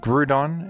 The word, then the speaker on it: Groudon: And this is a Pokemon with a universally agreed-upon pronunciation. The Pokemon is named Groudon, and Groudon is absolutely excellent.